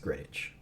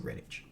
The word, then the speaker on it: Greenwich: greenwich okay and everyone says here greenwich is pronounced greenwich a green which looks like green which is pronounced greenwich okay so it's a greenwich meridian so it